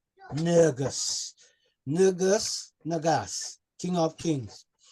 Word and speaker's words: Negus: He's at the title Tafari right up to coronation day, because we know him as Nugus or Negus in English, but the Ethiopian pronunciation is actually Nugus.